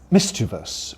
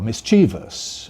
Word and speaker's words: mischievous: Another word, mischievous or mischievous, or indeed mischievous. Which do we prefer among those? Well, again, it's age-related. Older people, like me, say mischievous, and we think that's the right way to pronounce the word.